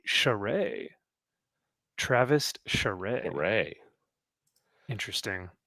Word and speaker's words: Charest: Whoa, heard it say Charest. Travis Charest. Hooray. Interesting. Well, there's a T in there, so I'm pronouncing the T. I'm saying Charist, like a Okay. true American, I guess.